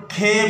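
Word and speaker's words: ک: अलग हो जाती है, इसको हम काफ नहीं पढ़ते खे पढ़ते हैं हम, इसका तलफ़ आगे लिखा हुआ नजर आ रहा होगा आपको।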